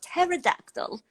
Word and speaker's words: pterodactyl: It's spelled with a P, and so pterodactyl.